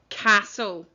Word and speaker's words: castle: 2 weeks old now, it was a silent T sound. So if your word doesn't have a T in it that you're not pronouncing, then you've spelt it wrongly. Okay, number 1, castle.